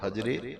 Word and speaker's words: حجر: کہتے ہیں اور حجر، کئی لوگ ہجر اسود کہتے ہیں، ہجر کا لفظ غلط ہے، ہجر کا معنی ہے جدائی، ہجر کا معنی اور حجر کا معنی پتھر، صحیح پروننسیشن تلفظ ہے حجر اسود۔ حجر کا معنی ہے